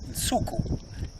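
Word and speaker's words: Nsuku: And so Msuku is how we say it. And that's the Xitsonga word, and it's spelt.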